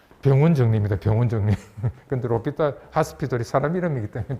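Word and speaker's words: l'Hôpital: 로피 딸의 정의라고 들어보셨어요 불란서 사람이라서 저음은 발음 안 하죠 중간에 나오는 저항은 플란트 사람들은 자음 발음을 안 해요 그래서 영어로는 핫스피털 병원인데 불후에서는 정관사 더에 해당되는 병원 정리입니다 병원 정리 근데 로피탈 핫스피 둘이 사람 이름이기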